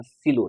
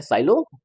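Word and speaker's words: Sylow: इन्ह ये दिया था सिलो ने इसको इसको क्या पढ़ते हैं सिलो हां लिखते हैं साइलो पढ़ते हैं सलो वहां का प्रोनाउंसिएशन है यहां से बिलोंग करते हैं ठीक है एक और नोट लिखते हैं।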